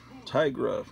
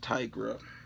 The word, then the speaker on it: Tigra: Here's Marvel Chillers featuring Tigra, the Werewoman. As a kid, I thought it was pronounced Tigra, so I've always pronounced it Tigra, but then later on, I realized, I think they meant Tigra.